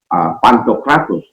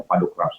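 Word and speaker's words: Pantokrator: saya mendengar dia berkata Pantokratus, di telinga saya sakit. Karena dia saya anggap pakar, maka saya bertanya. Bukan saya ingin mempermalukan, tidak. Yang jelas itu Pantokratus itu dibacanya Padokratus yang maha kuasa.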